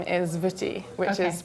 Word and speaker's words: Wutty: And his first name is Wutty, which is pronounced like as if the W is a V.